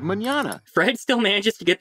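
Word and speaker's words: mañana: spanish word for tomorrow forgot the tilde it's a symbol you put over the end to change the pronunciation without it the word would be said incorrectly as banana instead of manana fred still manages to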